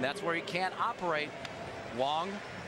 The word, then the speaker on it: Wang: is chin ming wong spelled wang but pronounced wong and this guy is 6-0 in day games this year he must be hard to pick up and tom he's a big fella wong goes 6-3 220 he's